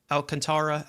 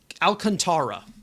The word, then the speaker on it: Alcantara: Alcantara Alcant I got to look up Rober.